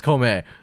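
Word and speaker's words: 孔明: like one verse, and then it goes to Kongming or Kaomei if you're I was watching going in to say, you Japanese. guys are pronouncing it the lame English way. It's Kome.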